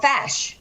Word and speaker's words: feis: Oh, a fash. Fash. A fash. Okay, so I read it wrong from the site. Thanks That's for okay, correcting. I know. FEIS, it's pronounced fash, and that's a local competition.